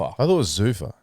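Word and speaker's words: Zuffa: I thought it was Zufa. I thought it was Zufur as well.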